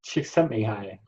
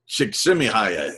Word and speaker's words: Csikszentmihalyi: And Mihaly, can you pronounce the name, Doug? I believe it's Csikszentmihalyi. Csikszentmihalyi, exactly.